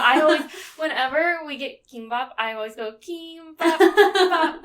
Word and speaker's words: kimbap: The singular K can also be a G. So that's why you also see kimbap spelled with the G.